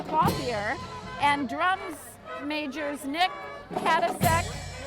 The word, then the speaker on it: Clothier: Directed by Chris Clothier, pronounced Clothier, and drums majors Nick Katasek, Jason Myers performing Gray's arrangement of the Nutcracker.